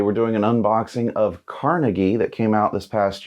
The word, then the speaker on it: Carnegie: Carnegie, the industrialist, but I believe the name was actually pronounced Carnegie, but I'm going to say Carnegie because that's how I think most people tend to pronounce it.